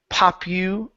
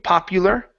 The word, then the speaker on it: popular: Uh, next up is uh the word papu. Uh, papu. Popular. Popular. Popular. Good. Yeah. So, remember that's going to be an eoo sound.